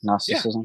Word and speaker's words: Gnosticism: um so let's talk about it so it's pronounced gnosticism I correct or am I wrong I think you're correct gnosticism yeah yeah so depending on kind of what